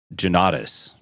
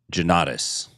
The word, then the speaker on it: Jonnatas: Okay, so first he told everyone how to say his name. How does he say it? He says Jonnatas. Jonnatas? Jonnatas. I didn't hear Joe, I heard Jonnatas.